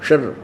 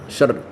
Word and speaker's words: क्षर: क्षर अक्षर, शर, इसको वैसे उच्चारण करते हैं शर, लेकिन हम समझाने के लिए इसको देसी भाषा में बोला, अपने संत भाषा में क्षर पुरुष और अक्षर पुरुष।